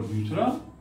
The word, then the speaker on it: though: So first is thought, second is spelling is same, minus T, THOUGH, दो। उसका उच्चारण देखिए, दो।